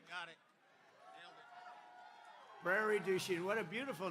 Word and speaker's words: Prairie du Chien: So we're here today in Prairie du Chien. Is that a good pronunciation?